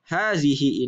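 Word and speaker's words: هذه: yang ini habisin hadihi walaupun secara tulisannya huruf H tidak panjang akan tetapi secara bacaannya dibaca panjang Haze hihi.hd C nah Apa arti Hai by ternyata hadzihi ini artinya sama dengan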